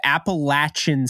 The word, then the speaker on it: Appalachian: Nick Hampton out of Appalachian State I'm now saying Appalachian because I had the Appalachian you know cancel people came at me it was like you need to pronounce it the right way and I was like